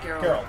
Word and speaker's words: Geralt: Geralt.